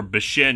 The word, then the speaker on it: Bunshin Saba: Sadako is basically the villain for the first half hour, then Bunshin Saba, or Bishin as it's pronounced in the film, is the focus for most of the rest.